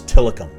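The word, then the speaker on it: Tillicum: areas here in town i've heard this pronounced as tilikum tilikum talikum talikum this is tilikum tilikum this is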